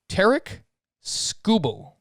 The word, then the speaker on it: Tarik Skubal: And I actually was watching the Detroit broadcast, and they pronounce his name Tarik Skubal.